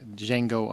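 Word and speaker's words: Django: other Leonardo DiCaprio flick D Jango Unchained the D is silent thank you Justin also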